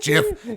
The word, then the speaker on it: GIF: It's pronounced Jif, you fucking dick.